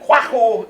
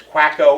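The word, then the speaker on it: Kwaku: on a Wednesday and quu is how you say that in aan at least a Aon speaker told me that's how it's pronounced my English speaking ears might not have said that properly but usually that name gets rendered in English as quacko or or quack um and quacker is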